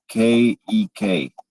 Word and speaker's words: kek: It's pronounced like cake, but with a K sound at the end. Is there anything else I can help you pronounce? That's cool. Can you correct me if I'm wrong? Cake. Kek. It rhymes with peck.